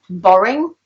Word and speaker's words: boring: So for example, in the word boring, you can hear it, it's R, whereas in the word better, you can't really hear it.